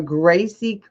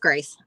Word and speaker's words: Grace: So it's Gracie. Just Grace. Thanks, Mom. She messed up. Oh, so what? So it's spelled right, but it's pronounced just Grace.